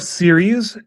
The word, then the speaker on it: series: The plural of series is pronounced the exact same as the singular. It's what's known as a zero plural. There is no extra syllable.